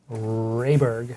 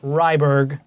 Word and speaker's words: Rayberg: a confection well there's only one way to say rayberg not ryberg like some people say how the hell could